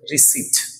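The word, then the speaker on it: receipt: এখানে এই যে পিটা, পিটা সাইলেন্ট থাকবে এবং এটার উচ্চারণ হবে রিসিপ্ট, রিসিপ্ট, রিসিপ্ট। আমরা আর এটাকে রিসিপ্ট বলবো না।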